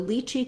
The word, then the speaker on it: lychee: pronunciations of lychee so lychee can be be pronounced either as lychee which rhymes with kiwi first syllable stress or this letter y